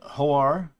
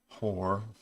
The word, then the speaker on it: Hoar: a new article on hoar actually it's pronounced horror he is a god